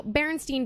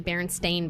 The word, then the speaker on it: Berenstain: okay so yeah so Berenstein bears is really berenstain bears that's uh supposed to be pronounced people have always thought it was Berenstein with an EIN what nothing the former fire marshals laughing at you what's out right all right it's actually Berenstain sta n and that one really